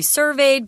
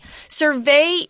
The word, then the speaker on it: survey: say oh ten percent of the people we surveyed believe this guy's when it's a noun please don't say survey everyone in Taiwan that I've ever taught English to say survey survey is the pronunciation for the verb form but